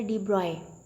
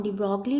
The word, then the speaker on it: de Broglie: हम यहाँ पे इसको डी ब्रॉगली लिखते हैं, लेकिन इसको प्रोनाउंस किया जाता है डी ब्रॉय वेवलेंथ या डी ब्रॉय हाइपोथेसिस, दोनों फॉर्म, डी ब्रॉगली भी डी ब्रॉय भी।